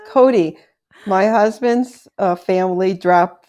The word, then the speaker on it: Cote: Is it Coat? No, it's Cody.